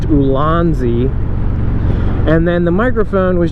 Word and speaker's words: Ulanzi: And it's by a company, I think it's pronounced Ulanzi.